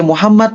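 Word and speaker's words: محمد: Asal M-nya double aja. Muhammad, Muhammad, Muhammad. Tapi nggak perlu jadi Muhammad. Itu nggak perlu. Nggak perlu. Ya, yang penting M-nya double.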